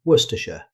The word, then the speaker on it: Worcestershire: First up in our challenge section, Worcestershire. This is a classic pronunciation trap. Instead of trying to pronounce every letter, British speakers commonly say Worcestershire. The word is heavily compressed, so Worcestershire.